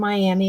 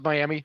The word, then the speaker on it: Miami: But they don't pronounce it Miami. They pronounce it Miami.